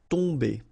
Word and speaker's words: tomber: Okay, so remember, you've got O-M here, but after that you've got a consonant, so it does mean that this combination of O-M will give you the sound on. Okay, you don't pronounce the M at all, so it's really a nasal, so it goes in your nose.